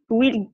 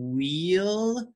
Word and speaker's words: will: asia to brazil it's it's saying wheel instead of will or ease instead of is so excellent job but